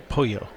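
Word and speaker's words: pollo: right yeah you know like in Mexico you know TYC either would make a wise sound but only a Y like no like poyo like pull you loco yeah well you don't call it k cedilla it's quesadilla well I've heard an actual Spain that two L's together make a J sound so it'd be POJO and setup poyo hmm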